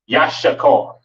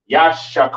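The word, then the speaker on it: יששכר: And in the Hebrew, this is pronounced Yashakar, Yashakar, all right.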